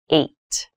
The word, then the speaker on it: eight: number h this has an interesting spelling it's pronounced eight eight is a lucky number eight is a